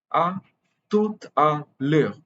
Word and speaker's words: à tout à l'heure: Here, The H you will notice is silent. The H is almost always silent in French. So the next vowel is pronounced. E and U together are pronounced as E, and the R is usually a glottal R in standard French.